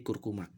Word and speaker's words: curcuma: Kemudian ada curcuma, tulisannya curcuma, maka diucapkannya menjadi kurkuma.